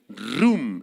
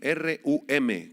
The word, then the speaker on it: rum: Esta palabra ensoberbecerse proviene del hebreo rum, R-U-M, con acento en la U, rum.